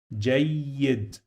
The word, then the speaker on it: جيد: So I pronounce this letter 2 times. We are gonna repeat the pronunciation of this letter. So the next one that I'm gonna pronounce, it will sound like Y in English. So I say J. And then I have the sound of E after the Y. So I say J. So why I pronounce this letter 2 times? Because I have this mark on the top.